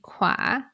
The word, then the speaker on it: ขวา: In these three examples, you can hear that I pronounce ปรับ in the low tone, คลอง in the middle tone, and ขวา in the rising tone.